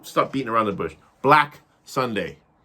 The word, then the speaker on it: BlaK SundaY: BlaK SundaY. B-L-A-K, that's capital K at the end. Sunday, spelled like the day, but with the capital Y.